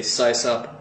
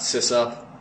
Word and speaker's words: sysop: well by the way I say sigh sup not sis up so yeah system operator